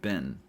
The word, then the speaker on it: been: Now be careful with this word been. These two words sound different, at least here in the US. Being is pronounced with an e sound, but been is pronounced with an i sound.